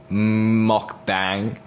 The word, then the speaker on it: mukbang: So I'm going with the English pronunciation mukbang.